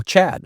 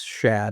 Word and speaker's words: Shad: myself, they go, "Oh, Chad." Yeah. So I usually spell it. I say it's Shad, Shad. So, It's not a lisp. It's actually Shad.